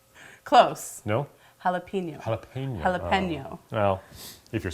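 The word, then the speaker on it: jalapeño: of pepper we have here I believe it's pronounced galapo close no jalapeno jalapeno jalapeno well if you're Spanish it's true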